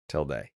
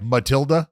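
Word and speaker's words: tilde: idiots but we're not till till Day always remember till du like duh it's till du no like like like Matilda no it's that's Matilda it's no till day is kind of like what you know like PE like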